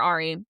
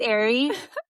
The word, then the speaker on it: Aerie: uh with Aerie or Ari? I'm going to say it wrong, I know it. It's No, don't worry. I used to say it. I said it and switched. It's Aerie.